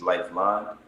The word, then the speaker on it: LYFELIN: sounds like LYFELIN, but the real pronunciation is Lifeline. It's just abbreviation.